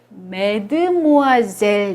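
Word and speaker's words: mademoiselle: 마드모아젤 또 역시 여성 한테 붙이는 경우인데요 요것도 맨트 모아 이제 라고 발음합니다 매드 뭐 하세 옷 역시 의 햇수로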